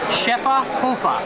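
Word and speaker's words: Schöfferhofer: try it and then we went with a chefa hoofa that is the proper pronunciation I've looked it up I've heard it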